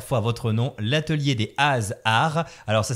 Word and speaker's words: Has'Arts: En tout cas, on va rappeler une dernière fois votre nom, l'atelier des ASR. Alors ça s'écrit HAS apostrophe art ARS mais pour le coup c'est quand même assez facile à retenir.